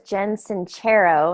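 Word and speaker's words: Sincero: one and the authors Jensen chair oh and I found out just this past week and that's how you pronounce it cuz I just finished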